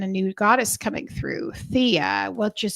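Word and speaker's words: Theia: Thea which is spelled t h e i a.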